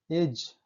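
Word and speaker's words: edge: Rule number 4 है, जब किसी शब्द में डी के बाद जी होता है तब डी साइलेंट होता है।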